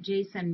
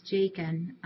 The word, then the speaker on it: Jakin: Our little Jakin, I have been pronouncing it Jason, but it's Jakin, is doing much, much better.